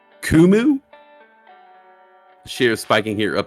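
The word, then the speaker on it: Qumu: go uh ticker symbol q u muu i believe that's pronounced kumu Shar spiking here up 6.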